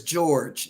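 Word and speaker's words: Jorge: just okay to say God George j-o-r-g-e we pronounce it as George g-e-o-r-g-e but it's j they're showing me j-o-r-g-e but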